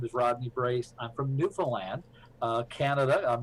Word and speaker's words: Newfoundland: years my name is Rodney brace I'm from Newfoundland Canada I'm right on the East Coast and